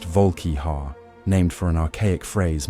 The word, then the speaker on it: Volkihar: These became the Volkihar, pronounced Volkihar, named for an archaic phrase meaning frost giant's fang.